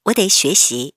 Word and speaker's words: 得: 내일 시험이 있어서 나는, 자, 여기 어딜 득자는 네라고 읽어야 합니다.